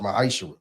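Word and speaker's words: ma'aser: 10th in Hebrew and it's pronounced maisher 10% of every penny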